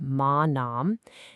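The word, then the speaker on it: māna: It's pronounced ma nom, and it means pride.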